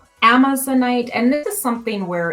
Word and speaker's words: amazonite: resonates with us but yes that's correct i pronounce it amazonite and you can see i have some pieces